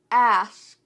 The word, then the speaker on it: ask: And one of those words especially is ask with a K. I noticed that when I play back my video and I say the word ass, it sounds like ass.